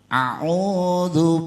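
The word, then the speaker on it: أَعُوذُ: A'udzu billahi minasyaitonir rajim. Yang sering ketukar antara alif dan ain. Alif bacanya a, tapi kalau ain bacanya a. Lebih di atas.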